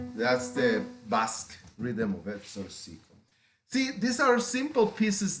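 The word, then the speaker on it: Zortzico: And this is a piece called Zorcico. It's spelled Z like zebra, O, R, T like Thomas, Z like zebra, I, C, O.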